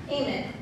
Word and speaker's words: Amen: Instead, what I said was, it's pronounced Eamon, actually. It's Urdu.